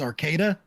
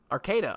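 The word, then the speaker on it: Arcata: it there you go and how do you pronounce it it's Arcada Arcada okay I complet definitely me messed that one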